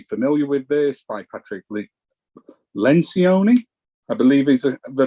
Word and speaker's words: Lencioni: you may be familiar with this by Patrick Lencioni I believe is the pronunciation of his last name I may have